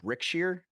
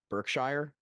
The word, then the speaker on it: Brickshire: It's called Brickshire, not Berkshire.